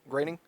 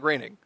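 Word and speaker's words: Groening: the reason why I grining yeah it's pronounced graining sorry you're um Matt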